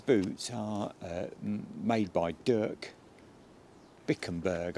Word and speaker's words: Bikkembergs: are made by Dirk bickenburg I think is how you pronounce it bickenburg or or bikenberg you know I'll put it